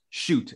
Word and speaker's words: Schutt: name was sh it's shoot uh but literally they all start with this guy's actual name is pronounced shoot and everyone is very